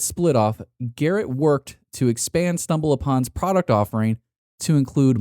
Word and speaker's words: Expa: Following its split off, Garrett worked to expand StumbleUpon's product offering to include mobile phone, app discovery, and social networking.